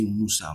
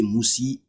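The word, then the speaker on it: موسى: You always say Musa, Musa. You never say Musi. For example, if a half a jar comes, you not say Musi. It will be what? Musa. It will still be Musa.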